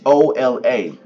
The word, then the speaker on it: hola: you spell it h o l a you have to remember you have to um just pron pronunciate it because the H is silent like Ola o l